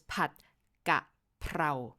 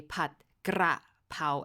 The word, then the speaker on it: Pad Gaprao: of confusion because, so the correct way to pronounce Pad Gaprao is Pad Gaprao. Notice the R is in the last syllable. But if you read restaurant menus, a lot of time they will say Pad Kra Pao and will put the R in the second syllable, in the gra.